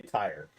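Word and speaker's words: Tyr: to tears Smite to tear Smite you but ipronounce tear I say tire tire to Tire uh for all intents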